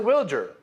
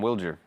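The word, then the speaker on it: Wilyer: So he pronounces it Wilger. He said he said, "Nice to meet you. I'm Wilagger." Yeah, Wilger.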